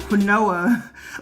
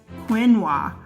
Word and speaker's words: quinoa: veggies beans chilies quinoa I just noticed our learned that is not rinoa like I've been pronounced as Quinn wah and then cake so